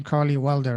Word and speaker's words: Karlee Welder: join anyway the personal as your name carly welder right yeah just how it's spelled here and then also